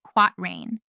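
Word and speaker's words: quatrain: This kind of rhyming pair is called a quat rain rhyme when it occurs in four lines pronounced quat rain.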